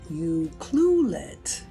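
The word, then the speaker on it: Ucluelet: just turned 60 and here we are in you cluet that's how you say it um having crab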